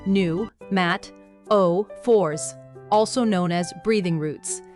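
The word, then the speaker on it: pneumatophores: Adaptation two, pneumataphors, pronounced new, matt, o fours, also known as breathing roots.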